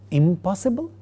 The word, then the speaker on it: impossible: Again, for the word possible, the negative is impossible. The initial sound of the word possible, pa, makes the negative prefix end with ma, and therefore we get the word is impossible.